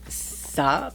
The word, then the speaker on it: Saab: Saab, that's how you say it. I don't know if that's how you pronounce it.